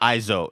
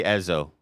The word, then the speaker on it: Ezo: it's definitely not Izo. It's not Ezo that. looks like what people. Ezo. It's got to be Ezo.